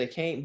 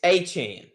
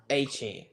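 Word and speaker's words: Achane: Now, I always said, I've always said a can't, but after kind of talking to Buddy, it's Achan. Yeah. Achan.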